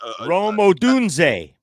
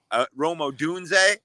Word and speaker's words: Rome Odunze: Rome Odunze. Rome Odunze, yeah.